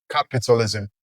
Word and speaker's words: capitalism: like I said earlier, you stress the first syllable of word that ends with ISM or ISE. So, the first syllable of this word is still cap and if you look at it, we arrive at the same conclusion or destination in both words, capitalism.